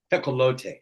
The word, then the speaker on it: Tecolote: So you don't put Tecolote. accent on the E? Oh. There would be an accent on the E normally, right? Tecolote. Yeah, I suppose, but it's, it's a derivative of a Spanish word, right?